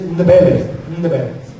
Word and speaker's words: Ndebele: Es difícil de pronunciarlo, Ndb. Yo sé, para los que hablan español, 3 consonantes juntos es algo diferente. Pero se dice Ndebele.